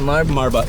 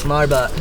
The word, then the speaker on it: Marbut: Marbut. Marbut.